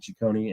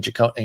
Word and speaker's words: Cecconi: And Cecconi, you know, who's this Slade Cecconi guy or Cecconi? Excuse me, I've been saying it wrong. Cecconi. Oh, is it Cecconi? Cecconi. I'm looking on BREF right now. Cecconi. I thought it was Cecconi.